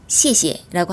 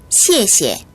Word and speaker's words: 谢谢: 앞에 거는 된소리가 나서 시에라고 발음이 되고요.